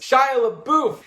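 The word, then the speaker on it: Shia LaBeouf: to finish it has Shia LeBouf that's how you say it right yes it is Shia LeBouf it has Bruce Dern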